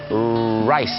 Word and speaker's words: rice: อย่า ลืม นะ ครับ ต้อง ออก เสียง Rice นั่น เอง นะ ฮะ ไร ถึง จะ เป็น ข้าว ถ้า ออก เสียง ผิด